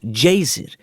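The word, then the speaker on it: Geysir: O Jezer, palavra que os islandeses pronunciam jaer e que significa furor, erguia-se majestosamente na sua extremidade.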